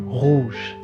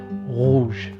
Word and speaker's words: rouge: So it's slightly guttural, not overbearingly so, and definitely not rolled. So it's a unique, I think, phonetic case in French, rouge.